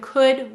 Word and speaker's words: could: an l happens and could would and should notice the uh this is another spelling of the broad uh sound could would should and notice it has a silent l because it's saying that